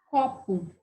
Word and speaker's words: copo: Copo. Então, me dá a impressão que tem um acento nesse có. Então, a sílaba mais forte aqui, ó, é a antepenúltima.